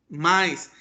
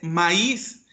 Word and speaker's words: maíz: un acento por ejemplo la palabra mainz es incorrecta su pronunciación su pronunciación correcta es maíz qué pasa con esta